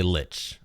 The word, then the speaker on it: lich: is it uh lick so technically it's pronounce uh LI or you can say Lich I just say Lich because it's easier to hear the words but I think technically it's supposed to be Li how I just pull